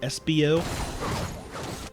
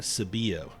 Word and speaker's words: SBO: I have been informed that the top laner for looking for GF's name is pronounced SBO rather than Sabio.